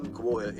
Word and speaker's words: Mkwawa: However, Mkwawa is the accepted pronunciation of the name, as it also used by his descendants.